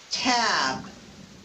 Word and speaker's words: tab: The first T in tab is aspirated. That's what the little h, the superscript h means.